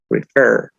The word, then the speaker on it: refer: En el primer caso tenemos refer. Como lo decíamos, tenemos 2 sílabas, refer. Y la mayor fuerza de voz cae en la última sílaba, porque no decimos refer.